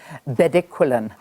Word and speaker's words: bedaquiline: Candice, please help me with the pronunciation. I know I got it very, very wrong in terms of the actual medication. Bedaquiline?